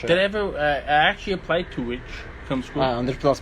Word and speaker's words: Łódź: In Poland, there's a Łódź film school. How do you say the it? Łódź.